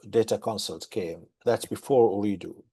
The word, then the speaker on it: Ooredoo: Um, you continued on to Doha after to join Ooredoo, is how you pronounce it? It's Ooredoo, correct, yes.